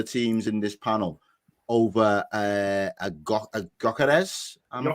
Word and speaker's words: Gyökeres: two of the teams in this panel over Gyökeres. Am I pronouncing that right? Yeah, Gyökeres, yeah.